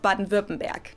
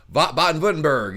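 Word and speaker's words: Baden-Württemberg: in the state of baden verbenberg in 1930 the local the way she says that man baton button back i've i've i've been saying buttonburg you know i'm saying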